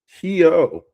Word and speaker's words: Surianto: Um, and if I pronounce Astrid's last name wrong, I'm sorry. It's Suryanto.